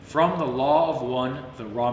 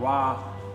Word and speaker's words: Ra: Raw Material.